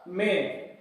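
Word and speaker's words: man: पर वो हो जाएगा मेन। इनकी जो दोनों की जो उच्चारण है, जो दोनों का जो प्रोनाउंसिएशन है, उनमें थोड़ा सा डिफरेंस है, जिसे ध्यान से आप सुने। मैन, मेन, मैन, मेन।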